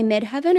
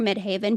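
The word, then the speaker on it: Midheaven: okay so my mid my mid heaven or midhaven people pronounce it differently in Pisces and that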